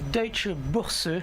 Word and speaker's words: Deutsche Börse: Oui, alors ce matin, je vais vous parler de la Deutsche Börse, comme les Allemands le prononcent, parce que c'est un